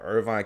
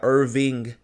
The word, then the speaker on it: Irving: But she meant to say Irving. We got a Irving, Texas. It's not spelled like Irvine. It's Irving.